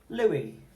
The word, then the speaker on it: Louis: spell the E sound in Louis are I and S, because it's actually of French origin, it's a French name. And these are the two letters that are being used to spell the E sound at the end of Louis. So we have oo, oo, E. Louis.